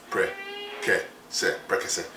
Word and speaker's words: prekese: So just say prekese. It's very simple, 3 syllables. I mean, you know, prekese.